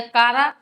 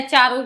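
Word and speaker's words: Chara: सर इसे पढ़ते क्या है, चारा या कारा या चारों ही पढ़ दें? वैसे इसका सही उच्चारण तो होता है चारा, क्योंकि ये चेरोफाइट डिवीजन का मेंबर है।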